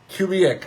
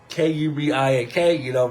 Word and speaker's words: Kubiak: Klint Kubrick. I think that's how you say it. Kubiak.